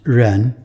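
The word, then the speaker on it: 人: the left hand side you see a person pronounced Ren on the right you see a phonetic symbol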